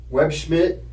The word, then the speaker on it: Webb Schmidt: you out on the jams and again uh web Schmid is did I say it right yes sir